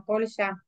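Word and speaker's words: Pólya: Perdón, profe, antes que avance, en la bibliografía de Polya, creo que se pronuncia Polya, Sí.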